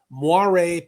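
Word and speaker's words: moiré: Where layers of materials are contorted at specific angles angles to create muare patterns. And that's spelled m o i r e with a little hot check on top.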